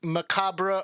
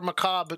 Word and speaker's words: Macabre: Actually, this is from the end of Dance Macabre or Macabre, depending on where your pronunciation is.